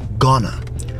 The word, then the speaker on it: gonna: Going to is not pronounced going to in the American accent. It's gonna. So replace going to with gonna.